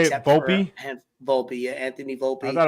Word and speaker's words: Volpe: Volpe, yeah, Anthony Volpe. I thought it was Volpe.